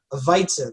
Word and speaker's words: Weizen: The W is pronounced as a V sound, like a Weizen, like it's spelled W-E-I-Z-E-N. Weizen.